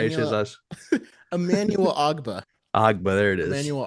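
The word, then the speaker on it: Ogbah: Emmanuel Agbu. How do you say his Emmanuel last? Emmanuel Ogba.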